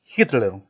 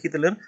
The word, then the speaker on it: Hitler: Su pronunciación como si fuera la J, ¿no?